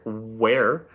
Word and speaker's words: where: gonna be an h so it's a silent h but we need to remember that the word where is spelled w-h-e-r-e the next word is